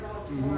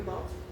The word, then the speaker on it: Baltimore: say are are very Baltimore. Right. Well, besides the fact I still pronounce the T in Baltimore.